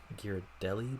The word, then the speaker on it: Ghirardelli: It's the Ghirardelli building, that's how you say it.